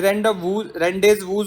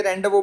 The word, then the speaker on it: rendezvous: ये रेंडेज वूज नहीं होता, ये रेंडवो बोलते हैं इसको। तो स्पेलिंग क्या होती है, RENDEZVOUS। This is a French word.